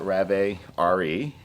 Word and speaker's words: Rave RE: Well, I currently, before I got onto the Rave RE, is the way you pronounce it, I was riding a 21 Renegade XRS.